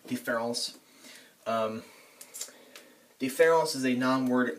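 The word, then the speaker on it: différance: the word difference and deference to us they look like they're pronounced differently but in in the in the French language they are pronounced the same but he puts an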